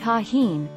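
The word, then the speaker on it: Tajín: you make your mark tahin pronounced tahin is a brand of mexican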